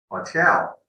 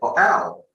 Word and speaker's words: hotel: Same with hotel. Okay, you never say hotel. Got it. Never. It sounds hard. It sounds horrible.